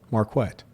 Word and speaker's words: Marquette: how you pronounce it? It's Marquett? Marquette.